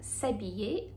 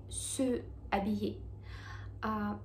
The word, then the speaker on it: s'habiller: Здесь мы имеем немую h, поэтому мы произносим его именно как s'habiller, а не se habiller.